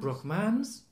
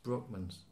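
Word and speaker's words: Brockmans: Rockman's book months well it's not broke man's it's Brockman's Berkman's where's the stress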